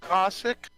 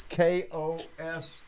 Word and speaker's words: Koski: I think it's pronounced Cossack. Cossack. Koski. John, can you hear us? Yes, I can hear you. I just had to lean way over there, and sure enough, you're right. It's Koski. Koski.